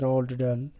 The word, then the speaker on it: Roald Dahl: about the author dear students roald dahl commonly pronounced as roald dahl was born in 13 september 1916 and he died in 23rd november 1990.